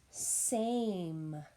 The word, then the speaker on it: same: Our next word we're going to do is the word same. Finger stretch, same. S-A-M, same. Please write the word same. S-A-M, same. We have that silent E on the end that is not pronounced.